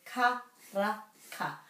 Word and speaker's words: karaka: So there's no macrons, so it's karaka. Karaka. And the ra is rolled.